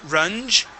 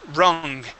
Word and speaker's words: rung: the word Rong here you had said run it is rung with a G sound like gold rung yeah rung good good